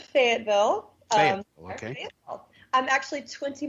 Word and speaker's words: Fayetteville: Well, we pronounce it Fayetteville.